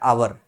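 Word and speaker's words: hour: आर लिख दूं तो कुछ लोग इसको हावर पढ़ते हैं, पर एक्चुअली इसका प्रोनाउंसिएशन क्या होता है, आवर। क्या होता है, आवर, आवर होता है।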